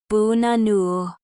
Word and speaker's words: banana: For example, in the word banana, the first and last syllables are schwas, bunanu.